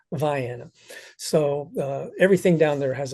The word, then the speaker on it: Vienna: my home county is Vienna but unfortunately it's pronounced Viana so everything down there has a funny pronunciation